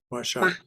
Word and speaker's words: Mahashay: Nag Mahashay. That's what it says. Nag Mahashay. Mashai. Mashai. Okay. Yeah, that's the way the Bengalis pronounce it.